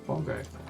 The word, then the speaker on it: Bengal: The native pronunciation of the word Bengal is bongo.